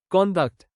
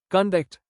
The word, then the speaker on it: conduct: If the word is used as a noun or adjective, the stress is on the first syllable. Example, conduct, noun. His conduct was praised. If the same word is used as a verb, the stress shifts to the second syllable.